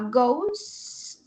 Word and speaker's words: goes: cambia de go a gos se escribe goes pero se pronuncia gos Pues porque es una